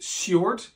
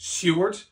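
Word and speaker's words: Siward: man and is pronounced Seward so it's it's spelled s i w a r d but it's pronounced Seward and importantly we hear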